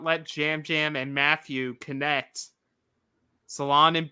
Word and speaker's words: Yam Yam: to be clear despite them being wise it's pronounced Jam Jam it is it's not yam yam it's Jam Jam Jam okay yeah so this